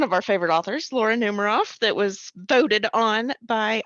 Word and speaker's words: Numeroff: Laura is spelled just like most people spell Laura. And then Numeroff is N-U-M, M-R-O, and double F on the end. Numeroff.